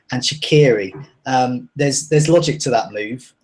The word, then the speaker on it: Shaqiri: I'm just pleased you're not saying Shakira instead of Shaqiri.